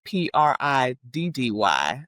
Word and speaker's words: Priddy: So it's spelled Priddy. So because most fellas, they don't want to say that they pretty, like Yeah, know.